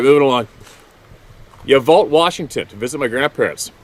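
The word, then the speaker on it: Yacolt: uh crotchety old guy it's spelled y-a-c-o-l-t but it's pronounced ya vault well why don't they spell it that way all right moving along you vote Washington to visit my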